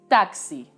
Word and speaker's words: taxi: taxi in spanish is taxi the difference in this one is almost unperceivable my only recommendation is to make the t sound very sharp taxi in spanish consonants tend